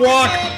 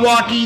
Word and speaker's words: Walke: Tom Walk, not Walkie, not Walker. The E is silent.